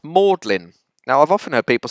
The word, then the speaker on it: Magdalene: Then the colleges in Oxford and Cambridge, both spelt Magdalene, one with an E, one without an E, but they're both pronounced Magdalene.